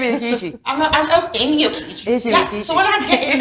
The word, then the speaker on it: Okiji: Yeah, so I will spell O-K-I-J-I, Okiji, as Okiji, O-K-E-E-G-E-E.